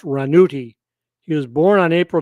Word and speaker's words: Ranucci: This one is Renato Rascal, whose stage name was Renato Ranucci, pronounced Ranuti.